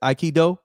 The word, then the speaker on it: Aikido: That's how you say it, Aikido.